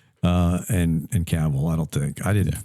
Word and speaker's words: Cavill: Cavill. Cavill. Rhymes with travel.